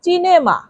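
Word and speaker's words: cinema: সিনেমা মানে সিনেমা দেখুন এটা উচ্চারণ একটু পার্থক্য এটা হচ্ছে সিনেমা বাংলায় বলা হয় সিনেমা আর ইতালিয়ানে বলা হয় চিনেমা এখানে দন্তস আর এখানে চ এতটুকু পার্থক্য পরের শব্দটি হল চকলেট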